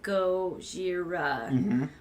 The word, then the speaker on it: Gojira: animals that would be well I remembered the pronunciation is go Shira which one would possibly be lizard right like